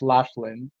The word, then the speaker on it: Laughlin: mentioned uh uh what is that how I pronounced the Laughlin so now I know it's Laughlin uh thanks for uh pointing that out I